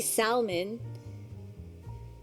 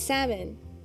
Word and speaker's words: salmon: Like when you say salmon, you don't really pronounce the L. You don't say salmon. It's salmon.